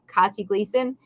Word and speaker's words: Katja Glieson: like uh everything and i try to keep it simple like katie gleason even though it's spelt very uniquely as you say no